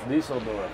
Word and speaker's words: Düsseldorf: How do you pronounce Düsseldorf. It? Düsseldorf. Düsseldorf.